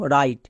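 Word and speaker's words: write: এক্ষুনি আমরা শিখে আসলাম ডব্লিউ এর পরে আর থাকলে ডব্লিউ সাইলেন্ট মানে এর উচ্চারণ হবে না তাই ডব্লিউ এর উচ্চারণ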